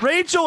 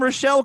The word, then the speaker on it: Rachel: Rachel, and I pronounced her name Rochelle because I'm an idiot.